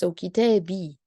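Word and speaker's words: كتابي: Because the ya is very strong sound, and to be able to pronounce the ya, you have to add a kasra before it, like this. So kitabi.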